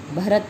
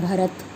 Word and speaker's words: भरत: भरत होता है, तय का साउंड होता है और अशुद्ध उच्चारण के कारण क्या बोला जाता है भरत, तय को थ बोल देते हैं।